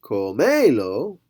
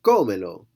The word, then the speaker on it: cómelo: Over here, cómelo, it wasn't comelo, it was cómelo, okay? So wherever your spoken accent is, that's where you're going to end up putting your written accent as well.